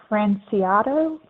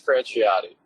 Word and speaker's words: Franciotti: with me kevin franciotto i apologize for your last name that i probably mispronounced kevin your line is muted oh there you go you can go ahead and speak quite all right it's franciotti um there you go